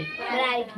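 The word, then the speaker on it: bright: क्या होता है साइलेंट टी से पहले जी एच एम साइलेंट है जी एच साइलेंट है जहां तक जहां भी देखो फाइट यहां देखो बी आर आर आई जी एस टी ब्राइट ब्राइट अभी हटा दो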